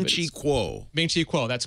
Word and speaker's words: Ming-Chi Kuo: But among financial analysts, and I don't remember how to pronounce his name. Ming-Chi Kuo. Ming-Chi Kuo, that's correct.